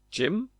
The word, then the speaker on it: gym: But if you say G Y M, how do you say that? Jim. It's an I sound. It's an sound. It is an I sound. Jim.